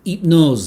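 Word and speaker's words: Hypnôse: mention goes to hypnose it knows i guess would be you wouldn't pronounce the h in french it knows by lancome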